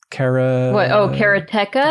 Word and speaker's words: Karateka: We've talked about it before with Atari 50 and then with the making of course, Kelsey knows how to pronounce it. Karateka.